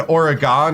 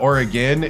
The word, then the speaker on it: Oregon: It's like when I kept saying Oregon instead of Oregon and all the uh Oregon people were uh getting ticked cuz I had my I had my Wisconsin Midwest accent on it.